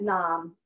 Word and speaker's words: nam: the head will chant nam I am rhymes with mom nam and the Nam sound